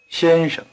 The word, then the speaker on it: 先生: 先生 The first syllable is in the high tone. The second is in what we call the neutral tone. Notice that it is weak and short, and that its pitch is rather low.